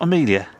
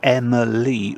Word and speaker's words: Emily: And sadly, Emily, I can never pronounce this one because it's not Amelia. It's Emily with an E.